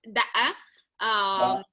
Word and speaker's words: Daqah: some names that Daqah, D-A-Q-A-H. Yes. I don't know if I'm pronouncing. Is that right, Daqah? Yes, it's da'a.